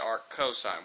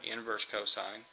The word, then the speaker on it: arccosine: pronounce that this one we still pronounce either as Arc cosine or inverse cosine you can also see